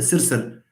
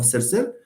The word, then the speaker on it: سرسر: Sirsir, there is no vowel. Now, here, the language has opted for the selection of r, which is the liquid, okay, to be the peak of the syllable.